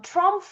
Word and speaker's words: TRUMPF: So um Trump is a 100year-old family company. Please remember to pronounce the F.